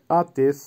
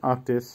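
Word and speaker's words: отец: আতেশ, আতেশের বাংলা হবে পিতা বা বাবা, ইংলিশে ফাদার বা ড্যাডি, উচ্চারণ হবে আতেশ। আবারও বলছি আতেশ।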